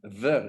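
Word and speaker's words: bheil: Yeah, ver. Is that how you pronounce Evil.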